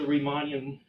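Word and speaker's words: Riemann: actually the reman the remon Theta functions so we retrieve all the remon theeta functions from this point of view I'm Germany I should say pronounce the correct remon okay reman theeta functions um so we call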